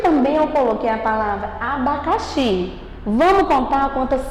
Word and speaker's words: abacaxi: Você pode ver que o xi é que é a palavra mais forte, que quando é pronunciada.